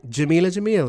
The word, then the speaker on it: Jameela Jamil: famous I mean a woman no Jameela Jamil Jameela Jamil let's sing it that's a good way to say it let's exact pronunciation right you schooled me on how to